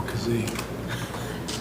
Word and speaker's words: Kazee: Trying to figure out how to spell Kazee. not kazoo. There's a number of different ways that it's spelled.